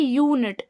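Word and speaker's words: unit: ठीक है, तो यूनिट देखिए, यूनिट जब हम यूनिट बोलेंगे तो या उच्चारण निकल रहा है शुरू में, तो शुरू का ही उच्चारण देखना है हमें।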